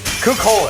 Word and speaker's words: Cú Chulainn: ryan butler right by the magnificent bastard cookhole that's how that's pronounced yeah it's like food yeah this is